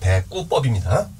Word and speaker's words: 대구법: 대구법이라고 읽지 마세요. 대구법입니다.